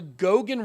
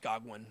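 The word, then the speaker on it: Goguen: key milestone in the gogan rollout uh which should be pronounced goguan i mean the guy the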